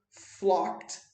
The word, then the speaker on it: flocked: flocked, fala assim, ó, lembra de não pronunciar o E? Flocked to the football match. Repara aqui, ó, a pronúncia de flocked é assim, ó. Flocked, com um T no final. Flocked. Não fala esse E aqui, tá, gente?